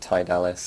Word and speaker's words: Tidalis: this with Tim yesterday he called it TI dallis and I thought you know what that's probably how I should have been pronouncing it the whole time rather than TI but this is a